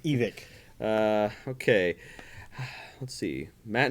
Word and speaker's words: Evike: Yeah, it's it's evict. The reason it's evict is someone's name.